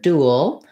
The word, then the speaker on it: dual: looking at the word dual i have first syllable stress and my letter u says the u vowel so that's just like in the word do uh or thinking of